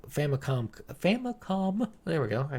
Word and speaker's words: Famicom: to the point I gave my copy the famicomp famicom famicom there we go I feel like I